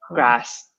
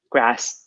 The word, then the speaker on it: grass: like movies yeah yeah so they'll say grass again it depends different people different different pronunciations but for the most part the north of England's have a open grass ah and in the South it's been closed yes this grass hmm yes do you